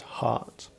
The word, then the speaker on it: heart: pride my art so here art is heart which is expressing the absent quite often people we say drop h's they don't pronounce H's so he says art not heart but the great thing